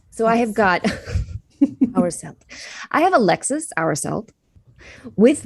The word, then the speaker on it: Hourselt: So hour like time. Hourselt. Felt. Okay. Like belt. So yes. I have got Hourselt.